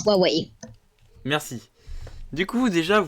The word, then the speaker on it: Huawei: Alors, ça se prononce Huawei.